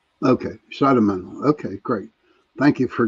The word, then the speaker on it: Schidemantle: Uh, it's pronounced Shadowman. Okay. Shadowman.